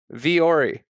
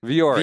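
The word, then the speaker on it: Vuori: And then Corey without a C. Vori. Well, no. You just added a syllable there. You did not go V Corey. You without the C. Yeah, but you added a syllable in there. Vori. Viori. Viori. Viori.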